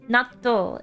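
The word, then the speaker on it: 納豆: Natto is the correct way to say it.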